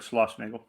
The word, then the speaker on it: Schlossnagel: Yeah, you said it right, Schlossnagel.